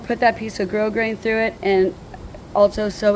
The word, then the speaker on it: grosgrain: So, I'm just going to get a piece of grosgrain to to put through it. And grosgrain is spelled g r o s g r a i n. We don't pronounce the s.